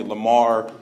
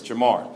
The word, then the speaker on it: JaMarr: about my name because people tend to call me Lamar and Jamal all the time but it's Jamar so I'm out there